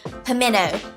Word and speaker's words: pimento: pimento cheese comes in I am from South Georgia and I say pimeno it is spelled like pimento but I don't know any Southerner that says that teeth if you're saying pimento cheese you're not from the south so a pimento what